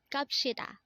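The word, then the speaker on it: 갑시다: Next word is kapshita. Again, this is pronounced as kapshita, and this is another way of saying let's go, but this is a formal way of saying let's go.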